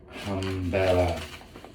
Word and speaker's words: Hambela: word so today i'm going to talk about umbrella this is the right pronunciation so this is roasted by machina espresso